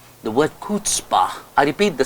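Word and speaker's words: chutzpah: CH u t z pH he got the pronunciation incorrect it's kpah the word kpah I repeat the spelling c h u t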